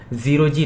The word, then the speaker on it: 0G: अब देखो, इसका प्रोनाउंसिएशन, इसका जो नाम है ये एक्चुअली में ज़ीरो जी मतलब ज़ीरो ग्रेविटी लैब्स है। मैंने भी जब अपनी प्रीवियस वीडियो बनाया था तब मैं भी इसे ओजी प्रोनाउंस करता था। एज जब स्टार्टिंग हुआ था तो काफ़ी तक कन्फ्यूजन था कि ये ओजी ही दिखता था, तो मोस्टली ओजी ही साउंड करते थे।